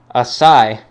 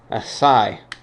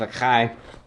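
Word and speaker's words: açaí: on the pronunciation the is pronounced a sigh oh boy I figured I was wrong with that one a Sai all right that makes a lot more sense instead of a Kai figured there' be no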